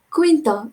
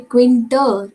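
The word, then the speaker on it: Quintero: alvarez quinta it is the pronunciation should be quinta it shouldn't be quinter it should be quinta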